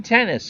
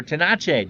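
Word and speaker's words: Tenace: Gene Tennis, or Tenache, depending on how you want to pronounce it, is your DH.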